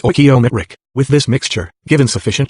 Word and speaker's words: stoichiometric: The scientist calls this chemically correct combination a stoichiometric mixture, pronounced stoichiometric.